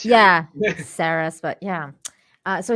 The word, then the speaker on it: Ceres: It's spelled Ceres, but it's pronounced Ceres.